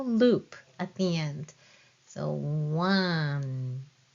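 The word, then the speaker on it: を: It's the same pronunciation as this o, but this one is only used as a particle in a sentence. You won't find any words starting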